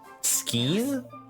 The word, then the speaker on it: skein: Skein? That's not how you pronounce that in German. EI always makes the I noise because it's like egg.